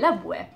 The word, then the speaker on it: لبوة: So we had the W letter and then the T marboota, then the pronunciation of the T marboota is an E, لبوة.